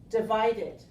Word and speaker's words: divided: divided all right so here we have the word divide again ending in e letter but silent so we pronounce d and we add this one well not two D together without the so we have to pronounce it with an extra syllable divided we divided the